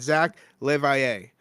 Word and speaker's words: Zach Levier: Now, how'd you like that? Did I say that right? You absolutely still remember how to say my name, Ian. And it's very much appreciated, you know, because the amount of times I've got to like phonetically get that out, especially because it's, you know, the French pronunciation.